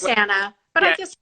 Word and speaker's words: Krisana: So, well, and I think it looks like from the comments, everyone's discussing how it's pronounced Krisana instead of Kristiana. Yes, it's Kristiana.